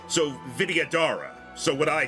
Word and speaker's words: Vidyadhara: Best way I would say to pronounce it is Vidya Dahara. The H is either silent or barely there, is just breath. So Vidyadhara.